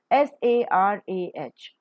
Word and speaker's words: Sarah: S-A-R-A-H, Sarah. The first one is a diphthong. Sarah.